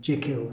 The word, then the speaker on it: Jekyll: Jekyll and Mr. Hyde, or Jekyll if you want to pronounce it, more like the Scottish.